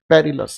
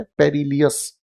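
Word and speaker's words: perilous: है ये गलत है, पेरिलस। इसकी प्रोनाउंसिएशन गलत है, पेरिलियस गलत बोला जाता है।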